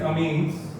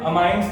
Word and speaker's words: amines: Part A that is अमीन्स। बच्चे अमाइंस नहीं होता, इट्स अमीन्स, ठीक है। आप देख सकते हो कि इसको सही प्रोनाउंस कैसे करते हैं, इट्स अमीन्स।